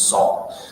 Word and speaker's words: Saul: What's Saul? So Saul rhymes with ball.